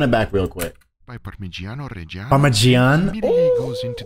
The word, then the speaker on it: Parmigiano: I love hearing the correct pronunciation of these words, man. Parmigiano.